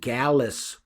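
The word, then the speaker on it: Gallis: But uh uh and I believe in in Leadbelly's version it was called Gallas Pole. The it was G- A L L I S for the way he pronounced it.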